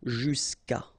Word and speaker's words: jusqu'à: Normally what happens is that this final a will go away and then we'll put apostrophe. So that's the reason why we get this jusqu'à. Okay, and then phonetically, jusqu'à.